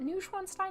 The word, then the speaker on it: Neuschwanstein: Is it Neuschwanstein? Yeah. I keep wanting to add more syllables to it because it's such a long word.